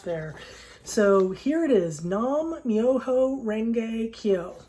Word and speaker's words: Nam: So first syllable is Nam.